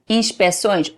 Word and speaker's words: inspeções: Inspeções, because in Portuguese, when you do that C, even though may not be fully pronounced, is there to open the vowel. If you take that C, you close the vowel and becomes Centro de Inspeções.